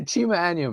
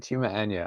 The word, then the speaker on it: Chima Anya: Chima Anya, man. Chima Anya. I notice Americans always like to put a little E where the A is, but it's like Anya, or Anya.